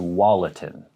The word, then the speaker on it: Tualatin: greater portland metropolitan area it is tualatin to walletin to wallatin organ and another one sayusla sayuslaw